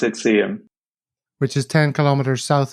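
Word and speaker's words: Seaham: little place called see him see him or see ham i pronounce it see him which is 10 kilometers south of sunderland but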